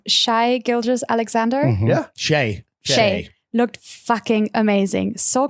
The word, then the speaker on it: Shai: Okay, I don't know how to pronounce his name. Shai Gilgeous-Alexander. Mhm. Yeah. Shay.